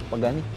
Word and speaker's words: Pagani: Kemudian yang keenam, Pagani. Pagani, dibacanya Pagani juga ya?